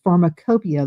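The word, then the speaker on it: Pharmacopeia: And also um US Pharmacopia. Let me spell that for you. US and then P H A R M A C O P E I A. It's spelled a little differently than it sounds.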